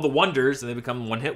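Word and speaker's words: Oneders: become they're called the Wonders and they become one hit wonders the oners it's spelled with a one so call them the oers that's it go go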